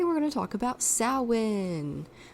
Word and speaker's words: Samhain: going to talk about sowin not Sam pain it's not pronounced Sam Hayne even though it looks like it should be pronounced Samhain but it's pronounced salwin which is essentially Halloween